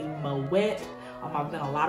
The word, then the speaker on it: Moët: of people pronounce it my wet way i like saying my way because it makes you feel fancy but the pronunciation is actually mo wet um i've done a